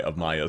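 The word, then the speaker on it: Amiya: It's funny that people pronounce it Amia. Yeah, that's why I specify Amaya so strongly.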